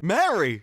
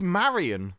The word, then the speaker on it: Marian: to talk to Maran Mary it's Maran like Mar Mary and Marian don't sound anything and similar you miss an entire syllable when you say a